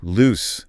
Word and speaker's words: loose: Loose. L O S E. The adjective ends with a clear s sound.